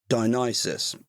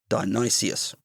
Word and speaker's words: Dionysius: You may have heard me call him Dionysius, an easy mistake, but of course it is Dionysius. And on that, in this episode, I realise he is Dionysius I, but I'll just be calling him Dionysius.